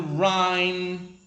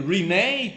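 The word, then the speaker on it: Rinne: The first test is called the Rhine test. Sometimes they pronounce it as the Rene test. Sometimes they pronounce it the Rhine test.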